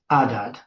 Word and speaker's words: Adad: It's uh with an alf instead of a so it's adad. So it just doesn't have the aspiration at the beginning the h the wind justad.